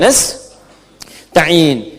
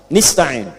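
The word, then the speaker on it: نستعين: Ada yang membacanya dengan kasrah, nistain, ya. Nistain, bacaan ini berasal dari Bani Asad, Rabiah, dan Bani Tamim. Namun, kita harus membacanya menggunakan fathah jika memang ditujukan untuk kita. Jadi bagaimana cara kita membacanya? Nastain, iyaka na'budu wa iyaka nastain.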